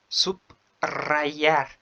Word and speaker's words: subrayar: Se escribe con una R, pero se pronuncia o su pronunciación es fuerte. Por ejemplo, subrogar, subrayar، subrayar.